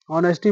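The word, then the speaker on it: honesty: honour आना सुरू होगा अब आप पढ़ नहीं पा रहे हैं कि एच साइलेंट है कि नहीं है तो इस तरह से गलत हो सकता है नेस्टी लिखा हो ऑनेस्टी पढ़ते हैं ना जबलपुर अब रिवर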